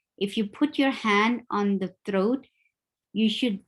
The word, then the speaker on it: ح: And the easy way to pronounce it is to just remember what you do when you try to clean any mirror or your sunglasses or your something. You say yeah, the same sound is there.